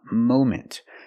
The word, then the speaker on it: moment: moment at the moment we cannot use a short a sound like hot and stop and Mom we need the long o sound like no and go and phone Mo moment at the moment right